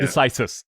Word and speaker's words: decisis: forgive me i'm gonna is it starry diseases this is the way we talk about it now yeah decisis yes yes terrible never assume the